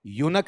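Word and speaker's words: eunuch: लेकिन आपने गौर किया होगा कि जो आपके यूनक होते हैं, इसका उच्चारण बताओ क्या है? यूनक है, ठीक है।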